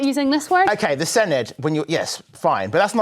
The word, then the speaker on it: Senedd: OK, the Senedd, when you're...